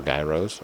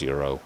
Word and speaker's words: gyros: It's Greek food. It's pronounced with Greek pronunciations.